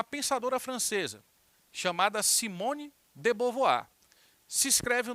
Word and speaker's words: Beauvoir: teoria de uma pensadora francesa chamada Simone de bovoir se escreve o nome dela Simone de Beauvoir mas se pronuncia Simone de Beauvoir Vou Voar discorda dessa